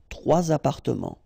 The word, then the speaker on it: trois appartements: So you should make the liaison. Trois appartements. Okay, so quelles options? Certains individus, trois appartements.